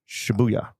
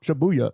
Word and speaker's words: Shibuya: I was pausing because you were putting the emphasis on a different syllable than I thought shabuya oh okay shabuya I I thought the